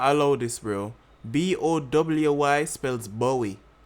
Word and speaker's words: Bowy: But like BOWY does not spell or pronounce boy in any way, shape, or form. It pronounce Bowie.